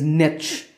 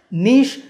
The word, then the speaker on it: niche: of this word is niche but due to influences from other languages like French niche has become more popular in fact it's the